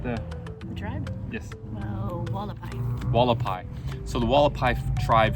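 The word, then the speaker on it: Hualapai: Do you remember how they pronunciate the tribe? Yes. Oh, Wallapai.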